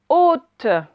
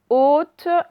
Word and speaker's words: haute: Vous écrivez haute. Haute avec le O qu'on a appris aujourd'hui. Et on a un H muet au début.